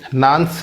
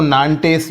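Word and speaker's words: Nantes: विरोधों के बीच में नांस के आदेश के द्वारा नांस है या इसकी स्पेलिंग की वजह से इसको नान टेस्ट भी कहते हैं ना टेस्ट के आदेश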